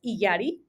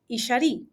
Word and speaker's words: Iyari: So Iyari is my Western pronunciation of my name. In Mexico, the main language we speak is Spanish. So in Spanish, it's pronounced Iyari. And my name actually is from an indigenous Mexican language known as Huichol. And it is actually the word that they use to refer to as your heart, spirit, and soul. And in that language, Wow. it's pronounced Ishari.